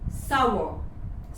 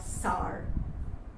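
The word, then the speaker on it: sour: Receipt the next word सावर सावर वो चीज जो थोड़ी खट्टी सी होती है जैसे कि मौसमी ऑरेंज वो सब सावर होते हैं। सावर नॉट सार द नेक्स्ट वर्ड टूर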